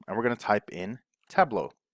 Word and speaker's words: Tableau: we're gonna type in tableau right and if you have trouble spelling or pronouncing and just remember it's table or La Mesa if you're from Spain a you okay so La Mesa table au Australia an Australian table